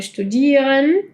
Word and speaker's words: studieren: Hay verbos como studieren, studieren. Eso es una u.